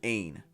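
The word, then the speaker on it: عین: first one is called an Ain it's almost like ain't nobody gonna mess with me only without the T so Ain and it's when it's in a word it's mostly just a quick stop so for example there's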